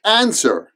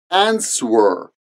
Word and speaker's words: answer: the W as in ants were but we don't pronounce the W it's silent next up is debt